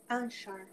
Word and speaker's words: Anshar: So the Manshar, is it Manshar? Anshar. Manshar. How do you pronounce it? Anshar. Anshar. Yes.